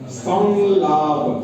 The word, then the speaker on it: संलाप: सय संयम संयम इसम संलाप संलाप संलाप के बा अनुस्वार का उच्चारण ल क नासिका के साथ लेके बोलना पड़ेगा संलाप एक लोक है